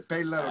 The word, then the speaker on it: Pellaro: bravissimo su tutto peccato che il posto fosse Pellaro c'è anche l'accento sulla e lui si è pure fermato